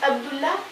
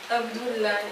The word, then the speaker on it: Abdullah: Ça prononce comment? Abdullah. Abdullah, exactement.